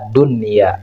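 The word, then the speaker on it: دنيا: adalah kategorinya Idhar wajib Nah jadi cara membacanya tetap harus jelas Sin wunin waun buun Dunya jadi nunnya dibaca jelas nah itu prinsip dibaca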